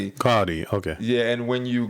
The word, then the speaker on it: Gaudí: One of the greatest exponents of Catalan modernism was Antoni Gaudí. That's how they say his name. Gaudí, okay.